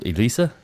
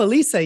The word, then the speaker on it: Elisa: woman your friend jen how do you say her name lisa oh elisa yes uh-huh lisa hebert right